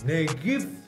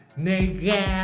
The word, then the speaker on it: Negav: chung đó là negis tên đọc đúng là nghề give chứ không phải là Mega hay là nega hay là trở nên gay ok là nơi ghép